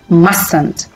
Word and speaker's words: mustn't: Please remember, we pronounce the negative of the word must as mustn't and not mustn't. It's a mistake. Mustn't.